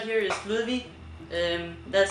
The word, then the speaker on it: Ludwig: So this right here is Ludwig. That's how you say it in Danish. I don't know how you would pronounce it in English actually.